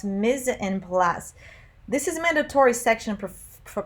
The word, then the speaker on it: mise en place: the museum plus is derived from a french language and it's pronounced miz and plus this is mandatory section